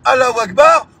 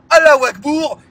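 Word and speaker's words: الله أكبر: trop le crack alors va-t-elle prononcer correctement comme le dit la religion musulmane alawakbar ou va-t-elle se tromper comme pendant le prime time en disant Allah akbour c'est ce que les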